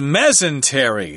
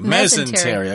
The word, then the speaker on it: mesentery: actual organ organ let me see what the pronunciation guy who says mesentery mesentery ok so that's the new organ in the